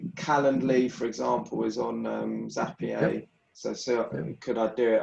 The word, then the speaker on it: Zapier: Zapier. Zapier, Now I'm paying the Zapier membership fee.